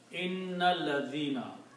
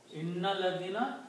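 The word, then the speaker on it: إِنَّ الَّذِينَ: But when you read together with inna and alladina, then you do not pronounce this alif here.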